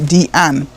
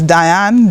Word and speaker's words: Deanne: Because on my passport, it said Diane, because it was spelt the French way again, but it pronounced Deanne. So at school I was Diane, Diana.